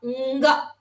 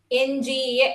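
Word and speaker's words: ङ: Nga. NGA. It is pronounced as NGA in English.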